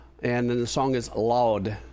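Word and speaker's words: Laude: And then the song is loud.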